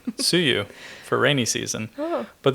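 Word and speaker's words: つゆ: So Tsuyu, if you have an emphasis on the su, the first part is like dipping sauce.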